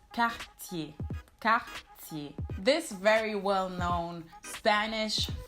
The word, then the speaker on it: Cartier: So it's not Cartier, but it's Cartier.